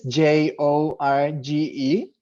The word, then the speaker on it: Jorge: jorge i will spell it for you is j-o-r-g-e pronounced jorge and i'm i'm currently 35 almost 35